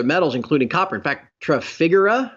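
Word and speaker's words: Trafigura: including copper in fact figura I think is how you pronounce never understood how t-r-a-f-i-g-u-r-a biggest commodity trading firm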